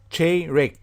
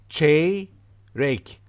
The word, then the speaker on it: çeyrek: Quarter means çeyrek. You know, kind of this pronunciation can help you. Çeyrek.